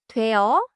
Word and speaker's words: 돼: First, "dwae-o" becomes "dwae". "bo-a" becomes "ba". "ha-yo" becomes "hae".